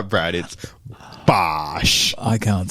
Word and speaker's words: Bosch: fight eight fight eight Josh missak versus Billy Bosch BOS you knew what Bosch was BOS you got to say it right Brad it's BOS I can't say it I can't say it